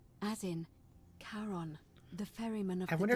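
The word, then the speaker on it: Charon: it we did not notice that only your pronunciation is a little off the name you heard wasn't Karen it was c h a r o n as in Kon the Fairman of I wonder if she did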